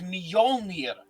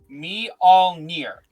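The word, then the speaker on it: Mjölnir: It's Molir. Stormmer. The J's are pronounced like I. So it's meol me. Don't look at the card. Just say me all me.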